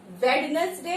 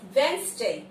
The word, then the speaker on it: Wednesday: वेड नहीं होता, डी is silent. ठीक है. वेडनेसडे नहीं होता, वेंसडे. देखो कैसे लिखा है, WENZ, वेंसडे, वेंसडे.